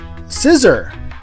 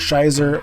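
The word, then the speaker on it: Scizor: are going with uh scissor is what I'm told it's pronounced as I I like to call it Shyer or or Shor people tell me it's scissor um so scissor is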